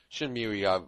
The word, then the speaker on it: Shenmue: Shenmue, I think is the way it's pronounced.